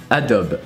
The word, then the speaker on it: Adobe: But yeah, all that to say that Adobe is pronounced Adobe.